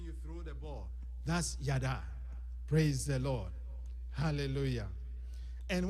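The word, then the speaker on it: yadah: The phrase give thanks comes from the Hebrew yada. Yada. You can spell it if you are writing it Y-A-D-A-H.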